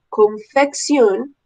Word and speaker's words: confección: Por eso, con doble C suena como si tuviese una K. Confección, cocción, fricción y micción.